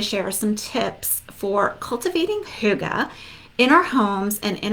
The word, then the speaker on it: hygge: right so now that we know how to pronounce it maybe not everybody knows what Huga is but now we at least know how